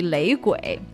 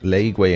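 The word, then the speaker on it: 雷鬼: Oh, so it's supposed to sound like the reggae. Oh, interesting. It doesn't sound like the original sound, but it rhymes a little bit. 雷鬼 and reggae. Yeah, it does to me a little. Yeah, it rhymes. It rhymes.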